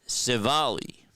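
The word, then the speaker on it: Civale: So, it's Aaron Civali. Emphasis on the second syllable, which makes a va sound.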